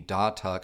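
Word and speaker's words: Datuk: They have an exclusive finish to the signature line, which is the Da-Tuck high gloss wood. Yes, that is how you say it. We did check, and it is gorgeous.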